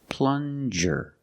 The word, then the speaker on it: plunger: Plunger. Use the regular N and the J sound, like juice. Plunger.